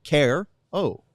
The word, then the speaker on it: Caro: mean c A- o it's not like a tough pronunciation either just care Oh Care Bear the Care Bear by